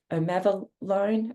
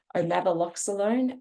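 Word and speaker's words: omaveloxolone: it was last year um it's um of omav loone I'm sorry I mispronounced it umava alone um or also known as Sky Clarence this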